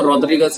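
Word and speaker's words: Rodrigues: इसको अगर हम पोर्तुगीज में बोले तो रॉड्रिगस इसका प्रोनाउंसिएशन होता है।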